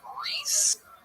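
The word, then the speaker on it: Rhys: Yeah, Reese, bro, yes. Reese. Spelled. Yeah. Why do you spell it R-H-Y-S?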